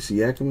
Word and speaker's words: Siakam: A lot of people pronounce it differently. I think Siakam is the correct pronunciation.